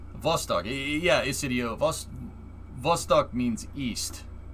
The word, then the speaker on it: Vostok: B makes a V noise, right?